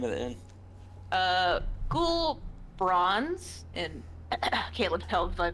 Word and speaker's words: Ghohlbrorn: Yeah, Gahol Bronze. Goal? Okay. It looks weird because there's 2 H's and 2 R's in places where they should not be.